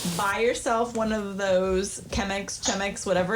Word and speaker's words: Chemex: I do not know how you pronounce it. It's Chemex.